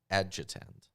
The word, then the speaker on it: adjutant: adjunct adjuntant a gentint adjutant there's no way it says those words in that word a-d-j-u-t-a-n-t how do you pronounce that i judge and there's no n before the t what verse 18.